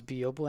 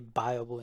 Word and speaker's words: Byobu: As a reminder, I will occasionally mispronounce Byobu and I will say Byobu instead because I'm just used to say that.